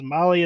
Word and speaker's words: Mahle: And to all of our podcast listeners, Molly is spelled Mahle.